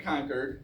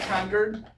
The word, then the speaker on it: Concord: And Massachusetts people will chew you out if you pronounce it Concord because like if you go to Stanton, Virginia, and you pronounce it Stuntton, it's s au.